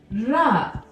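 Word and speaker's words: راء: Can you roll your R? Ra. For those of you who know Spanish, you already know how to pronounce this sound. Ra. Roll that R. Ra. Not ra. Ra. You're going to bring your tongue up. Ra. And you're going to move it. Ra. Rolling R sound.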